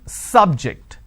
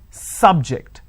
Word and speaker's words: subject: an interesting subject i'm i'm stressing on the first syllable okay now i'm using another example please don't subject the students to any tests so here my stress has moved to the second syllable for example when i